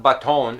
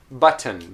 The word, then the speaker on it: button: an o sound anyway it's not baton it's but button button which is a a what we call awah which is a reduced vowel anyway don't worry about